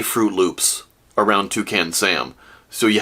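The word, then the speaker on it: Froot Loops: And also notice, in Fruit Loops, fruit is spelled F-R-O-O-T. Not F-R-U-I-T. Fruit, F-R-O-O-T. To match the O-O in loop. So, oot fray oopslay would be Pig Latin for Fruit Loops.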